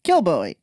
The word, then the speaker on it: Kilbowie: Kilbowie.